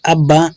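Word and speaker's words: ABBA: famous artist like अगर इसको हम जो है अब्बा प्रोनाउंस करें ठीक है तो इसकी जो है वो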